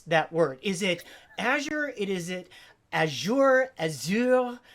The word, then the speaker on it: Azure: So we asked and we found out that they don't really care, but it is Azure.